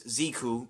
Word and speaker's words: Jiku: Ziku Driver, and yeah, I mean, obviously, Americans would pronounce it as Ziku, but Japanese pronounce it as Jiku, so I'm going to go for the Japanese translation, because that's the Japanese way of saying it, because that's, it's better saying it that way.